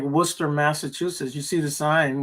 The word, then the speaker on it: Worcester: That's like Worcester, Massachusetts. You see the sign when you're going to go over there, and it's Worcester, but you say Yeah. Worcester. Oh, like Worcester?